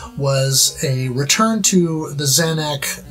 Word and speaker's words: Zanac: consensus here as to whether the pronunciation is zainac or xanax I've always said Xanax I don't know where